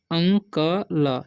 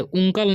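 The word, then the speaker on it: uncle: अंकल, इसे अंकल पढ़ते हैं, उंकल नहीं पढ़ना है या उंकले नहीं पढ़ना है, ठीक है। यू का उच्चारण अ हो जाता है, ठीक है।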